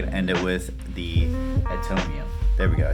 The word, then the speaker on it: Atomium: We're probably gonna end it with the Atomium.